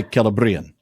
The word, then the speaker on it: Celebrimbor: It's telling you that the A is a long vowel, but because it's a long vowel, yes, the stress is on the penult, not the antepenult. So if you ever do get that acute on the second last syllable, that is where it's going to be stressed. Yes, because it's a long vowel. On the second, right. Exactly. That's why Celebrimbor.